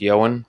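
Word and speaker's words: Ioan: to our episode with johan his first name is spelled i o a n he is a phenomenal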